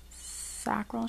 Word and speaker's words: sacral: and we have the I think you pronounce this um it's um sakal sakal chakra sacral chakra all right let's read